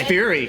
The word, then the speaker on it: Fieri: So, I would love the guy, how do you say his last name? Guy Fieri. Fieri. I know it's Fury. Fieri.